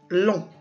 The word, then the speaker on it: long: Ça nous arrive aussi de rencontrer la lettre G écrite à la fin du mot. Souvent, elle est muette. Elle ne se prononce pas. Par exemple, le masculin de langue. On dit une langue baguette, mais on dit aussi un pain long.